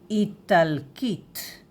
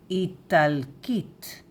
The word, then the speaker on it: איטלקית: So, Italian in Hebrew is Italkit. Italkit. All of a sudden, we have here the sound of K. K. Yes. Italkit. Italkit. Italkit.